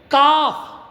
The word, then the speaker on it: calf: Okay, calf. C-A-L-F. Calf. L is silent.